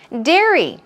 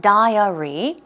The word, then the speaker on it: dairy: Dairy, okay, let's check out the pronunciation. It's dairy, dairy, not diary.